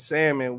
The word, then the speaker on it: salmon: the chat she said if you pronounce the l and salmon we cannot be together and i bet his